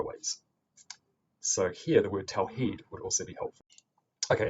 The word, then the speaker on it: tawheed: And again, that can also be spelled with the straight line above the I to make the vowel long, so we say tawheed, not tawhid.